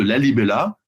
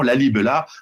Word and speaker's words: Lalibela: Et c'est à cette dynastie des Agoué qu'on doit en particulier le site exceptionnel de Lalibela, comme ça se prononce, hein, ceux qui veulent chercher en même temps, Lalibela, des églises sculptées dans la roche, et entièrement sculptée dans la roche, en 3D.